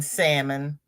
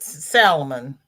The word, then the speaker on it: salmon: I've told my daughter you don't pronounce the L in salmon and she calls it Salomon like it's not Salomon do not teach my